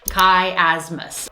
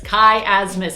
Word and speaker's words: chiasmus: First of all, wondered how to pronounce it. It's chiasmus.